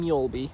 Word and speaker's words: Mjölby: Right now I'm in Mjölby, which I've been told is how it's pronounced.